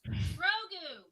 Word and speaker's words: Grogu: How's that pronounced? Grogu.